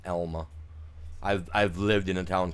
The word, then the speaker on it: Alma: Nope, have not played on Elma, Missouri. It's Elma, not Alma. Sorry, you guys. I live in a town called Elma, A-L-M-A, and it's pronounced Elma, not Alma.